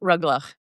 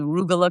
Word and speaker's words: rugelach: a little bit about rugelach and the history of it. And I love all the different pronunciations of it. There's the rugula crowd, there's the rugelach crowd, which always risks spitting on your cookies.